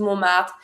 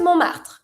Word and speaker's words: Montmartre: We call that Montmartre and you don't pronounce the T. Montmartre.